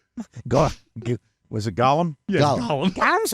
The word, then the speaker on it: Gollum: Hollywood heels my and golum is gollum's cousin Gollum Golan is Golem Golem what is the pronunciation of the it's Gollum Gollum I just